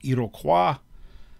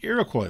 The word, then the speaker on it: Iroquois: europeans the iroquois league technically uh the french pronunciation would be iroquois um their name for themselves is sony so i go with the americanized pronunciation but the iroquois league five united tribes